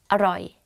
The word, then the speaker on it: อร่อย: So, อร่อย อร่อย อร่อยAnd you say it faster, aroi. But don't confuse this word to what, which is arai.